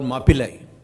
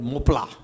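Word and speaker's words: Mappila: And therefore they were called Mapillai, which the English couldn't pronounce, so they called it Mopla.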